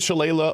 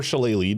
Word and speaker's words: shillelagh: but we also get shillelagh or shillelagh, depending on your pronunciation. This is the Irish It's an Irish word, just makes a lot of sense to include here.